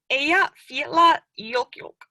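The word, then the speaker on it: Eyjafjallajökull: So you would pronounce it somewhat along the lines of Eyja Fjalla Jökull.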